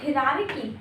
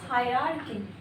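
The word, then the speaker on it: hierarchy: बाद development this is development development उसके बाद हिरारकी no this is हायरार्की हायरार्की उसके बाद कुछ फूड वर्ड से रिलेटेड बात करते हैं।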